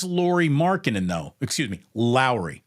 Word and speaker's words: Lauri: marinan though excuse me Lowry it's not lur it's Lowry is it really it is Lowry Markin like Mike Lowry from the Bad Boys movie like Lowry Lowry marinin